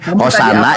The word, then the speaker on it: Hosana: Nih Alkitab Sabda nih, Hosana ini pelafalannya Hosana.